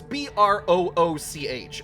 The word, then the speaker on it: brooch: Where you say, it's B R O O C H. Okay. If they wanted it to be pronounced brooch, they should have spelled it that way.